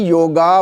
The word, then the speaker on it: योग: आगे करें, right, this is ए योग, बोले आप मेरे साथ, योग नहीं, योग, that's it, this is Sanskrit, योग, बोले फिर से,